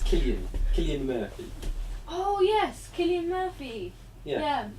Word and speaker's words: Cillian Murphy: I'm not sure how you pronounce his name actually. I think it's Cillian Murphy.